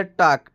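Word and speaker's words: talk: हमारा वाक हो गया टक टी एल के टक यहां पर भी एल साइलेंट रहता है टक टक का मतलब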